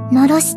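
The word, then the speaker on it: 狼煙: ああ、だから狼の煙と書いてのろしと読むのね。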